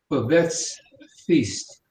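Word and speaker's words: Babette's Feast: of you must have seen it it's called bevets feast and the way it's spelled is b-a-b-e-t-t-e-s feast like in meal and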